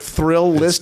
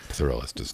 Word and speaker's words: Thrillist: catch well it's the when you put thrill list together there's too many L's it's pronounced thrillist thrillist there's too many